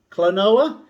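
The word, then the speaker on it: Klonoa: eight is kelowna clanoa clonoa that's how i pronounce it anyway i think there's a few different ways expect to pay about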